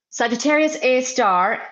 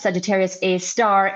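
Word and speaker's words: Sagittarius A*: Sagittarius a star. So it's the pronunciation the the way it's written is Sagittarius a a asterisk and the way we pronounce it is S Sagittarius a star is a super massive black hole at the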